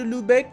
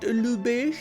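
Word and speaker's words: Lübeck: back actually from lubeck or should i say lubesh ludi is not pronounced to lubeck it's pronounced lubish alright so we're making them our vassal we're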